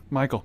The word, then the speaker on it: Mykol: Okay, Michael, plugs. Follow me on Instagram. It's Michael, but it's spelled MYKOL, like weird MY, not I.